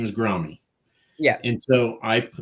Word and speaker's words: Grahme: And somebody said, by the way, that's Graham. I'm like, well, his name is Grommy. So I changed it, Grahme, which if you do an internet search, it still says it's pronounced Graham.